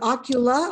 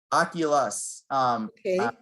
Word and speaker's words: Oculus: um well that's so is it ocula or oculus oculus how do you spell